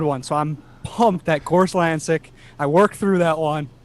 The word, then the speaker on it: Gorzlancyk: gotta ask real quick do you pronounce your last name gorslanzik well done yeah very nice yeah exactly